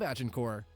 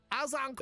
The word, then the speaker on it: Agincourt: upset he pulled off at the Battle of Agincourt. It's It's uh actually pronounced Azincourt.